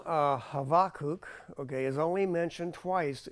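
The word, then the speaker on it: Habakkuk: habakuk okay um is the correct way to pronounce habak is the is like it's a half bow so you got to get off it really quick um is cook okay and it means embracing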